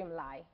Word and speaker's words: Mlay: At Angie Mlay.